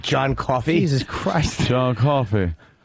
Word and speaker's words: John Coffey: He doesn't look like John Coffey. Jesus Christ. John Coffey. Not, what is it? Like the drink, but not spelled the same.